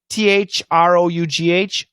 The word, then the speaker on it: through: Through, throw. Yeah, the pronunciation is different. So this is for PG Marante, THROUGH, ooh, through, THROW, throw, through, throw.